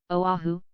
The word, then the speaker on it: Oahu: him after this island Oahu pronounced ovav he the first gate